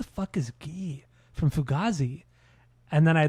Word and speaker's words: Guy: But his first name is actually pronounced Gee. It's not Guy.